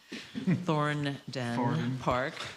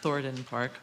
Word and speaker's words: Thornden Park: one last piece, and this is a discussion item for Thorndon Park, which is spelled with an N, Thornden Park, rather than Thorndon Park.